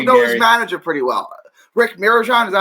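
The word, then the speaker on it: Rick Mirigian: Rick Mirajan, is that how you say his name?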